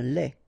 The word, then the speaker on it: lait: Lait, un lait. Okay, so the only difference is the final thing here, they, you don't pronounce it, they, you don't pronounce it, so phonetically you only have this lait.